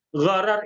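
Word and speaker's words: gharar: adalah horor goror ini bukan horor Bapak Ibu Ya bukan bukan film horor tapi horor jadi bacanya harus tepat ghoror itu adalah ketidakpastian dalam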